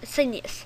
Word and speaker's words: Sinuous: so today's Google Chrome app review will be sinus Senus s i n uo u s Senus and that is how it's pronounced so let's just go into it really